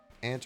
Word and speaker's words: aunt: sister's kids you're an aunt yeah exactly you're an aunt aunt or Aunt depending on how you pronounce that aunt is more the British and some Canadian aunt is some Canadian and American you are Aunt Millie